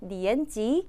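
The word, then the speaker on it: 年级: 그래서 나이는 리엔지라고 읽히고 학년은 리엔지 하고 읽힌다.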